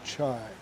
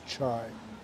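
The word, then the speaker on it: çay: t t t and i should say chai because that's the way it's pronounced here is chai they grow so much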